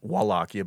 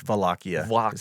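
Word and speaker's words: Wallachia: Yeah, it's spelled uh W A L L A C H I A. Wakia, but it's Vakia. Wakia. I think I think it's like a V and a W together. Vakia.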